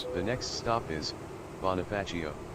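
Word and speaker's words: Bonifacio: The next stop is Bonafacio. Bonafetio is what it claims to be pronounced.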